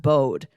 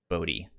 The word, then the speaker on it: Bode: Because I was reading it as just Bode. They did pronounce it as Bodhi.